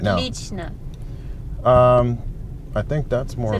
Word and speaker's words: отлично: Yes, отлично. Отлично. So you're good, hard to show. You're very good. Очень hard to show. And then you said отлично. Is that right? Отлично. Отлично. Okay, so three syllables again.